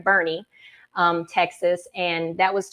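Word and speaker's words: Boerne: let me make sure I'm saying it right Bernie um Texas and that was to raise awareness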